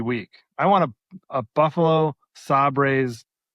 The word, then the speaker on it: Sabres: I want a Buffalo Sabres, right?